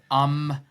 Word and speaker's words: ombudsman: a lot and that is what is an ombudsman can you go into that sure actually get how do you pronounce that word first yeah so it's it's umman so udman so udman is actually a Swedish